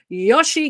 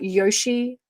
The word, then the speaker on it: Yossi: xylophobia we've talked about maggots let's talk about Yoshi Ginsburg Yoshi I believe that's how you pronounce it and I don't mean OSHA Ginsburg the reality television host here in Australia I mean uh Yoshi Yoshi y o s s i that's cool